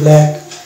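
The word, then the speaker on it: black: বিএল এ সি কে, বিএল এ সি কে। এই ব্ল্যাক, ব্ল্যাক মানে কালো, এখানে সি কে পাশাপাশি থাকার কারণে সি এখানে সাইলেন্ট হয়ে যাচ্ছে এবং মানে কয়ের উচ্চারণ আসছে।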